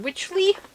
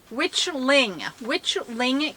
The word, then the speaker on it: Witchling: The next project I have for you is my is it Witchly? I keep saying it wrong. Witchling Cowl.